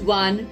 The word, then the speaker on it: one: Here the word one begins with the vowel letter O, but when we pronounce it, we get a W sound, one, which is a consonant sound, so we use a before this word.